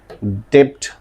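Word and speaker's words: debt: बट सल बोलते हैं डेप्ट लिखा जाता है डू नॉट इनएट द B sound हम लोग बी को साउंड नहीं कर प्रोनाउंस नहीं कर सकते करते हैं और हम क्या बोलते हैं डे है ना यानी कि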